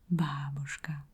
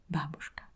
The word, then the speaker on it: babushka: So again, you say babushka, babushka. This is a scene where